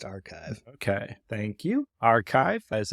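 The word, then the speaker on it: arXiv: arix is just archive it's spelled XIV but pronounced archive okay thank you archive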